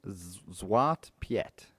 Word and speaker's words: Zwarte Piet: And his name is, I'm going to have a crack at the pronunciation, Zwarte Piet, Zwarte Piet.